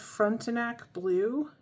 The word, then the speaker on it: Frontenac Blue: So we're going to be reviewing one of the inks they sent me a sample of, and I believe it's pronounced Frontenac Blue.